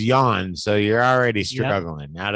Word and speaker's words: Jan: mean his first name the first part of it is yawn so you're already struggling